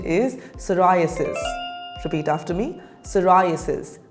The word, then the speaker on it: psoriasis: the correct pronunciation is psoriasis repeat after me psoriasis p is silent psoriasis is a chronic